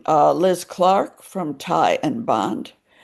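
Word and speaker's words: Tighe: In in the present, also present, uh you name uh Liz Clark from Tai and Bond. Ty is spelled T I G H E.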